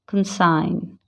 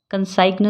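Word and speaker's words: consign: असाइन, बिनाइन, कंसाइन, कंसाइग्न नहीं बोलते, क्या बोलते हैं? कंसाइन।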